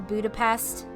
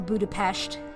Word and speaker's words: Budapest: They do an add-on for Budapest or Budapest, whichever you prefer to use. Either pronunciation is acceptable.